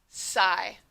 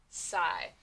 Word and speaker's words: sigh: so like i said these three letters will never say their individual sounds they will always say long i next word fry your